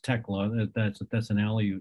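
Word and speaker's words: Tiglax: the fish and wildlife service the name is pronounced tecla that's a that's an alley name and just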